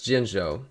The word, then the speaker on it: Jinzhou: Jinzhou. It's Jinzhou. That's what it is. Oh, it's called I mispronounced it, but that's the area.